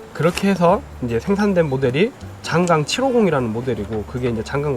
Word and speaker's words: 장강: 그렇게 해서 이제 생산된 모델이 장강 750이라는 모델이고, 그게 이제 장강 모터스의 시작이 되죠. 우리나라는 그 한자어 발음이 이제 장강으로 읽는 게 맞을 것 같고, 외국에서는 창장이라고 합니다.